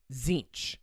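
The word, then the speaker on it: Tzeentch: him as the God then there's zinch zinch is spelled TZ n t c zinch okay zinch is the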